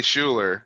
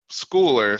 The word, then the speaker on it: Schooler: it's uh it's pronounced schooler i got yeah it's weird because at the game if you're at this game they say schuler yep but it's schooler so yes cooler yeah so i don't mind